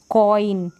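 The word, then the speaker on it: coin: फिर ये है टॉयल, क्या है टॉयल, कॉइन, ऑई करके यहाँ पर प्रोनाउंस किया जा रहा है।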